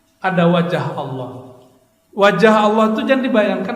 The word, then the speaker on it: Allah: Dalam bahasa Arab kalau awalnya a bacanya Allah. Kalau li lillah gitu kan. Orang tuh gak ngerti bahasa Arab diceleknya A L al l a ha. Alah Allah sudah.